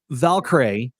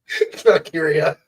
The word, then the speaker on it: Valkyria: Lyra Valkyrie defeated Dakota Kai. Probably butchered that. What is it? Valkyria.